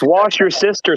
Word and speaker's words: Worcestershire: in cookery shows and nobody in america can pronounce it right it begins with a w what is this shire worcestershire it's wash your sister sauce lost back to training